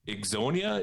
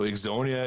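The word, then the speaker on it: Ixonia: trying to you know exonya is the town that we farm in so exonya is i-x-o-n-i-a and it was formed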